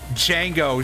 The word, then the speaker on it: Django: Django, spelled D-J-A-N-G-O, is legitimately pronounced that way because it's French.